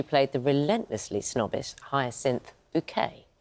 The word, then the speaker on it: Bucket: the relentlessly snobbish Hyacinth Bouquet, even though it was spelt as bucket, we all said bouquet, as her character pronounced it.